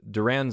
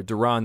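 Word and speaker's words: Durán: we forgot actually so duran's the one or duran depending on how you want to pronounce it um depending on which radio or tv dancer i think you're listening to um durong gives up actually the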